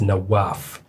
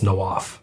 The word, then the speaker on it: Nawaf: It's not even pronounced the same way I introduce myself. So it's the actual Arabic pronunciation is Nawaf. But it's the easier way to say it's Nawaf.